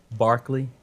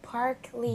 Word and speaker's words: Parkley: Parkley. Like broccoli.